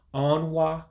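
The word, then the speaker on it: ọnwa: um excuse me let me get it right onward um is january so again you break it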